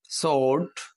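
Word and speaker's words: sword: এর উচ্চারণ হয় না সোর্ড এখানে ডাব্লিউ এর ক্ষেত্রে উচ্চারণ হয় না দেখেন এটা এই তিনটা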